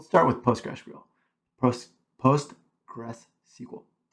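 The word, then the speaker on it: PostgreSQL: this is we'll start with postr gr post post Gress SQL say that fast that's how you say it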